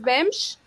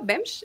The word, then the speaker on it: Bemsch: Ceci López Bemsch, perdón, Ceci, no te pregunté, pero sí se pronuncia tu nombre, tu apellido, Bemsch, ¿es correcto? Perfecto. Bems, sí, perfecto. Perfecto.